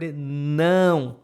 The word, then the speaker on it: não: You have to pronounce this like in cow, but remember, the sounds need to pass through your nose.